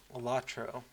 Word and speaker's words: LOTRO: great uh ler points some people pronounce lotro latro and this is not a ding at anyone who does that but it sounds very different to my ear than what I'm expecting okay so we're searching